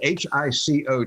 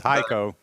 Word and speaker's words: Hico: are good at pronunciation h-i-c-o texas i don't know if it's hico or eco or what i think it's hico hico okay right outside of